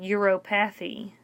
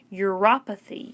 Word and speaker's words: uropathy: that word is pronounced it looks like euro path e but it's pronounced your apathy apathy any disease of